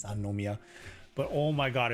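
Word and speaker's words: 三宮: you like oh yeah sorry you actually do pronounce a no in there it's sanomia but oh my god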